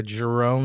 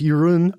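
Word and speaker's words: Jeroen: yeah yeah this is his name is actually pronounced yurun oh yurun yurun primers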